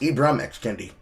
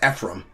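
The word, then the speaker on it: Ibram X. Kendi: It's like his name is pronounced Ibrahim X Kendi. You get pronouncing it like his name is Ephraim.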